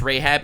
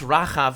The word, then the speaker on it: Rahab: It's pronounced Rahab. It's pronounced Rahav in Hebrew.